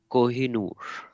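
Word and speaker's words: Koh-i-Noor: Kohinoor.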